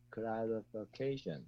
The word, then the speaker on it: clarification: Clarification. Yes, the stress is also on the second syllable.